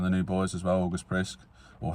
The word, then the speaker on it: August Priske: August Prisk, or how do you say it, Dad? August Priska. August Priske.